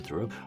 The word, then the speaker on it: Thoreau: How do you pronounce Thurrott? Close enough. Thurrog? I'll take it. Row. Anyway, I'm just messing with him. Yes, this is Dr. Thoreau, also known as a.